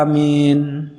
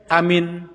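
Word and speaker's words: آمين: yang yang terdahulu tib Bagaimana cara membaca Amin bilmad wat takfif ya membacanya dengan mad a-nya panjang Mya n panjang dengan takhfif dengan tidak ditasydid ya jangan pendek Amin atau Amin itu namanya tasdid ya bukan takfif tapi dibacanya Mad wa takfif amin namah wararfa Rasulullah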